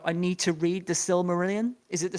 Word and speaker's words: Silmarillion: And then you got 5% who will go, oh my God, I need to read the Silmarillion. Is it the Silmarillion? Am Yep, I yeah. I pronouncing that think correctly?